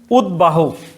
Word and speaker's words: উদ্বাহু: সেটা হচ্ছে সন্ধির সূত্রে আগত বফলা, উদ্বাহু। এটা সন্ধির সূত্রে বাহু, তখন এটা কি হয়ে যাচ্ছে? বাহু উচ্চারণ। তার মানে সন্ধির সূত্রে আগত বফলা সবসময় উচ্চারিত হবে, মানে উদ্বিগ্ন এরকম, মানে